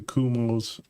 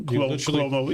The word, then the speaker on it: Cuomo: 51.5 to Kumo's 39.7. You mispronounced Cuomo. Oh, Cuomo, yeah.